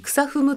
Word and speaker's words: 戦雲: がねあのまタイトルなんですがふむと読ませたのは船運と書いてふむって読むのはなぜかと